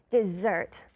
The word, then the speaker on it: dessert: Dessert. Careful, it is not desierto.